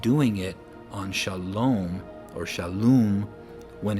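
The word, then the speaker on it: שלום: But for the vav here, it's an u sound, shalom, or they say shalom, but it's shalom. So we see a default a in between the shin and the lamed, shal, but we don't need a default a between the lamed and the vav, or the lamed and the mem, because there's already a vowel there.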